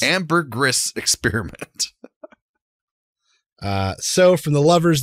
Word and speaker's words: Ambergris: What, how do you pronounce it, Steve? Ambergris. Ambergris Experiment.